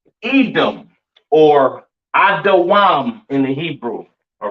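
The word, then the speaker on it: אדום: All right, pronounced Adawam in the Hebrew. All right. Edom Adawam.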